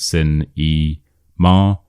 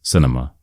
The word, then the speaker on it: cinema: So this word the stress is on the sin and then we have nma. It's not sin e sar. It's cinema cinema.